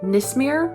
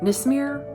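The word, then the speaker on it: Nismera: And then Nismir. Nismir. It's spelled N I S M E R A.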